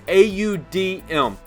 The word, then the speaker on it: Audm: I think that's how you say it. It's AUDM, Audm.